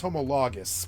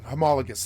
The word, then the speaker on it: homologous: the pronunciation of but I thought it was homologous but let's go let's go see uh pronounce I want to see the pronounce uh homologus homologus I had it wrong homologus homologus homologus yeah homologus uh